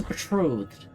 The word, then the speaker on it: betrothed: that how that's pronounced I thought I was I was betrothed like a long o the TRD just doesn't